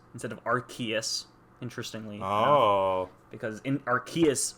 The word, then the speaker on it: Arceus: When when Lucy is is like rubbing Pikachu he says Arceus instead of Arkeus interestingly.